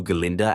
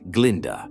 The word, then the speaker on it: Galinda: and while he's talking, he refers to Galinda as Glinda. Galinda immediately corrects him, but Dillon still makes the same mistake as Galinda seems pissed. Alphab defends Dillond because she knows he can't pronounce it better than he already has.